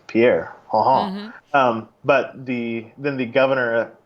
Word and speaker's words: Pierre: machine because it's 1993 and said it's actually pronounced Pierre and so they put that in the soundtrack itself so there you go not that you were wondering but it is pronounced Pierre South Dakota and all the South Dakotans rejoiced